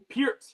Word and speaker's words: Peart: Wait, how'd you pronounce that again? Peart, the correct way.